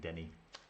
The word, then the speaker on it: Denis: It's the French version, Denis. Yeah, that's why I pronounce it Denny.